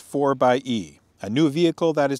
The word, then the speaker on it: 4xe: introducing the jeep wrangler a 4xe or it's pronounced for by e a new vehicle that is designed to provide